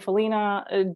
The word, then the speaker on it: Follina: Follina, I pronounce it Follina. If you pronounce it Follina, there is no right or wrong in our business.